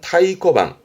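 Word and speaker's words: 太鼓: 발음은 타이코방 타이코 큰 북에 이때 항이라는 건 앞장에서 했던 도장 항고의 항을 말하는 건데 큰 도장 그러니까 큼지막한 도장을 말하는데요.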